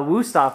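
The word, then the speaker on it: Wüsthof: A Wusthof knife, right?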